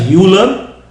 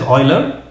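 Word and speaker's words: Euler: person Leonard o now this person many people pronounce his name as uler and I've heard this but it's actually from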